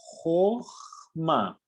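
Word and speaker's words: חכמה: E essa última letrinha aqui, o Re, também equivale ao H em português. E como não tem nenhum sinalzinho de vogal embaixo, não é pronunciado aqui nenhum H. Como se tivesse uma palavra com um H no final. Você não pronuncia.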